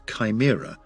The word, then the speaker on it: CHIMRA: CHIMRA, pronounced Chimera, after the multi-headed creature of Greek mythology, which stands for the Collection and Handling for In Situ Martian Rock Analysis Tool.